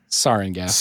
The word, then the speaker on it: sarin: In which they released, is it pronounced sarin? Sarin, yes.